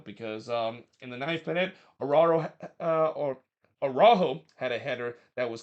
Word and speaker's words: Araujo: in the 9th minute, Araujo had a header that was clear off the line. The commentator keep pronouncing his name Araujo and not Arujo, so I'm gonna pronounce it Araujo in this one.